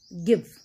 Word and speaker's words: give: But they are not, we do not pronounce them, like give, give. So E is not pronounced, but it is there.